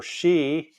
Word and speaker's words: Xi: X or Twitter so think of the letter X and like when you put XI for she in China it's pronounced like sh right she uh so my